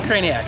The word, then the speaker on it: Krajnak: the director of marketing I would I would say your name but I don't know how to pronounce It's Tricky it is it doesn't look like craniac at all that's it so so